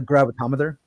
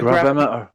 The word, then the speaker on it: gravimeter: Your gravitometer. They can do it. They can detect buried things using a gravimeter. It's just gravimeter.